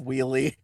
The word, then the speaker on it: Wheelie: You said Willie instead of Wheelie.